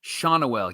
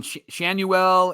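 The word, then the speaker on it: Schanuel: a lot this year Nolan shael shaunell yeah because we we struggled with that last Shan we were saying shuel and Shan Simmons slip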